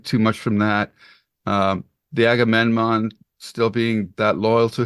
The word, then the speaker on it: Agamemnon: The Armageddon, no, how do you say this Armageddon. ship? Yeah, the Oh ship that no, the he Agamemnon.